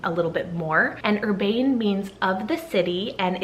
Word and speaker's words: Urbane: up with the name Urbane, so spell it U-R-B-A-N-E. Yeah, you could totally use urban as well, but I really like the ending of Urbane. I like that soft ending as opposed to urban.